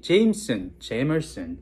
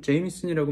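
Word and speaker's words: Jameson: 네, 발음이 제이머슨, 뭐 제이미슨, 뭐 여러 가지가 있는데 본인이 그냥 편한 걸로 부르시면 됩니다. 제가 있는 곳은 캐나다인데요. 이쪽에서는 제이미슨이라고 많이 부릅니다. 그래서 제이미슨이라고 오늘 계속 발음을 할 거고요.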